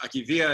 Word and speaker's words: acedia: Aki via to to acedia gosh I've heard it pronounced a billion different ways Aki via is what it is in Greek if you translate in